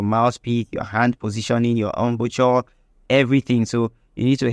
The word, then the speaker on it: embouchure: precise, we call it embouchure, because we like to pronounce it every letter. Because it starts with an E, we call it embouchure, but I think it's a French word, so it's pronounced embouchure, starting with an E, right?